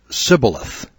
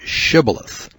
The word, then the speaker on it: shibboleth: that verse shows that ephraimites had trouble pronouncing their h's so they would mistakenly pronounce it sybileth instead of shibboleth well all of those